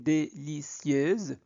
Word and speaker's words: délicieuse: accent aigu e r se pron e donc te préparer une déieux sieieux yeux yeuse s entre deux voyelles se prononce z donc une délicieuse tarte aux pommes pour